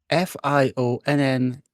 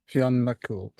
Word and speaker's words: Fionn: Is that Fion? Yeah. Okay. Pronounce it Fion.